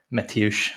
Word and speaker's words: Mateusz: Mateusz, that's for Celtic fans how to pronounce the first name of the player, Mateusz Bogusz, if I'm not butchering that.